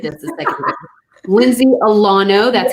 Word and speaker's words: Alano: Lindsay Alano, that's how you say her name.